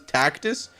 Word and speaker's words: Tactus: Tactus? Rhymes with cactus.